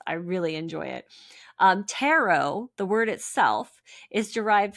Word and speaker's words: tarot: Um, tarot, the word itself is derived from the Italian word terochi. So, terochi through the French language to English. That's why the T is silent in tero like Merllo because it's